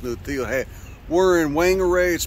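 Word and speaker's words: Whangārei: got a nice New Deal hey we're in Wang arrays pronounced whangarei but you can also call it bang rang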